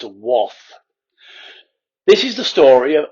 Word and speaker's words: Wath: the devil lived in waff now i'm assured by my mum who is a yorkshire last from bridlington that it is pronounced woth this is the story